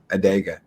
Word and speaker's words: Adega: Adega. I'm saying it right too much now.